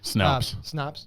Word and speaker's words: Snopes: So Snoops, I forget how you pronounce it. Snops. Yeah. Yeah, that's it. Snopes, yeah.